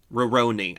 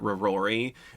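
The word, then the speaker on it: Rurouni: do you say it Roni Kenshin roroni I always want to call it rori and then when I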